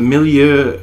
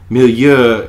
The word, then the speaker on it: milieu: which is quite literal but Millia if you look at it it's me mi - Lou so it's meant to